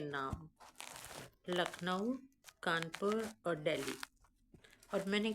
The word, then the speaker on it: लखनऊ: अगर आप तोड़ें क्योंकि अंग्रेज जो है वह लखनऊ नहीं बोल पाते थे। वो बोलते थे लक नाव ठीक है लक नाव